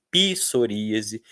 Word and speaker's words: psoríase: vêm do grego, etc., ninguém pronuncia mais isso, a gente pronuncia pineu, piterodáilo, pissoríase.